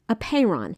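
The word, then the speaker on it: apeiron: the concept of apeyron it's spelled a-p-e-i-r-o-n a payron it's a greek word that means unbounded like infinity the greeks considered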